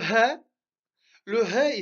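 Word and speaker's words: ح: Le he, on le prononce comme si on était essoufflé. C'est-à-dire comme si on avait couru et on est essoufflé et on dit he, he. C'est-à-dire qu'on ne sort pas d'air de la gorge.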